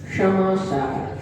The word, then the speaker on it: क्षमा सागर: लेकिन अगर सही उच्चारण किया जाए तो सही उच्चारण है क्षमा सागर, शा, षटकोण वाला, शा का और रा, इन तीन वर्ण को मिलाकर के शा क्षत्री का बना है।